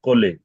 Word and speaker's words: colis: ओ माय मैन ये कितना अच्छा पढ़ा है कोले कॉली ये कॉली क्या होता है बताइए कॉली